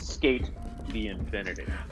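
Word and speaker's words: SK∞: The Infinity, or SK Infinity Symbol, but it's pronounced Skate the Infinity.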